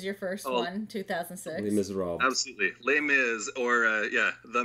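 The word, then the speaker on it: Les Misérables: Yeah, you could be just lazy and say Les Mis, your first 2006. Les Miserables.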